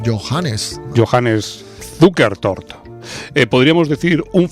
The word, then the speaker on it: Johannes: Yo decía Johan y parece que no. Parece que es Johannes.